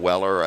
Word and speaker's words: Weller: here or whatever or if they call me wheeler instead of Weller and so on so